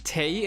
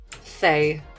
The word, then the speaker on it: Thay: But is it Tay in Twilight? Thay. It's Thay in Twilight.